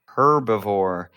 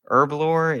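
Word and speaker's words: Herblore: It is not herbivore. That's like a koala. Herbalore is the lore of herbs which are plants. And also the H isn't pronounced at the beginning.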